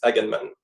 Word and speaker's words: Aganman: Do you want to say it for us, just in case I've been mispronouncing it the entire time? It's Aganman.